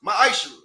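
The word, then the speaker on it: מעשר: Means tenth in Hebrew and is pronounced ma'ashra.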